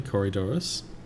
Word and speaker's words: Corydoras: Google Translate tells me I'm pronouncing it correctly, Corydoras.